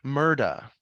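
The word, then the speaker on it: Murdaugh: June of 2021 where Alec Murda rhymes with murder becomes the face of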